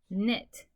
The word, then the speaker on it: knit: When you see W-R-K-N-G-N at the beginning of a word or syllable, the first letter is silent. Okay, this word is wrap. This word is knit. This word is gnaw. Okay, the silent letters mean the W, the K, and the G. All are silent.